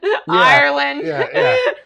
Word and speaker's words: Irelyn: She's Ireland Ann, and it's spelled IRELYN, and then ANN.